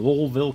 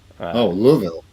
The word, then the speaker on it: Louisville: If you're going to compete, and the test is if you can pronounce Louisville correctly. Louisville. Yeah. You don't come in there saying Louisville or Louisville. It's Louisville. All right.